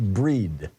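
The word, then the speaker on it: Brighid: Bridget b r i g t which is pronounced breed imul is the pagan holiday of Awakening for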